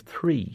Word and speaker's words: three: You have to put the H into the 3. A number of people text in about so many different things, but Phil has texted in, Damien, please pronounce the H in 3.